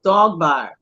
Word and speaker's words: Dogba: He pronounces it. He writes it Dogbar because that's how it sounds to his Baltimore ears, right? But at the end of the day, it's Dogba. It's the Pella named Dogba.